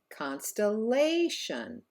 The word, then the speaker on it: constellation: and in the last word here constellation it's actually the third syllable that is stressed and therefore held out longer repeat after me constellation very good problem for